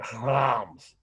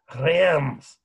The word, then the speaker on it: Reims: So here are the three ways you can pronounce this city. I already said one, Reims. But if you're in France, they often don't say it that way. They'll say Reims or Reims, literally, like they're clearing their throat of, you know, cream cheese or something.